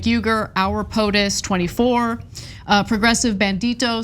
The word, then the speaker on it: Uygur: Cenk, this is pronounced like a J, Cenk, and then Uygur, Cenk Uygur.